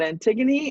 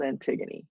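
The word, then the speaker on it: Antigone: attendants the servants those are pretty obvious but antigon and isman are two characters at the end that I wanted to pronounce for you Antony and isman are edus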